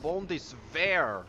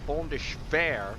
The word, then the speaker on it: Bundeswehr: Little highlight from last video, I now realize I was saying Bundeswehr wrong. I was pronouncing it Bundeswehr, not Bundeswehr.